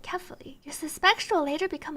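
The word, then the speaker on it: Kephale: I thought it was Cafali, but apparently they pronounce it carefully.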